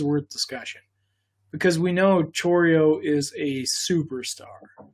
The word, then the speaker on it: Chourio: Okay, so our next one, I like to call him Chourio, but that's not how you pronounce it. It's Chourio. So it's Jackson Chourio.